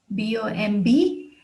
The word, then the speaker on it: bomb: top of the hill here's another one boom bomb is pronounced as bom which is a container filled